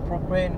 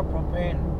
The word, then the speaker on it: propane: Còn gas tiếng Mỹ nó là propane cơ. Cái ga mà nấu bếp ga á mẹ. Nó đọc là propane.